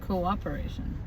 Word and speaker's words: cooperation: Nope, coop. That doesn't make sense. Cooperation. Unless the person's name is Cooper. Cooperation. They spell cooperation wrong? Yes. No, they didn't. C-O. You're just saying it wrong. It's C-O-O. Co-operation.